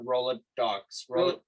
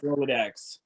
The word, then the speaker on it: Rolodex: Is it Rolodex or Rolodox? No, it's Rolodex. Rolodex. It's for sure is Rolodex.